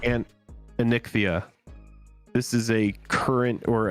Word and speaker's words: Anikthea: Angel, the commander right now is how's it pronounced? It's Anikthea. And Anikthea.